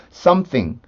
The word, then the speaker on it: something: 부드럽게 움직여 주는 연습을 할지 해주셔야 돼요 그래서 썸띵 썸씽 썸 쌩 이게 이제 여러분들이 익숙해지고 나면 나중에 문제가 안되는데 어처구니 우리나라에 없는 발음을 된다고 생각하면 까다로울 수가 있거든요 근데 하나도